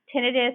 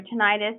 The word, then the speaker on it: tinnitus: But constant, continuous tinnitus or tinnitus, depending on how you say it, is not normal.